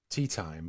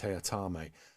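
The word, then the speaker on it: Teatime: also in it is a character called uh t-time only he insists it's pronounced tayatame anyhow by the bye um david warner he's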